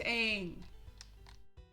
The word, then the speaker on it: Aang: could at least and i mean at least pronounce the character's name correctly oh no it's aang it's just and what's up with the lord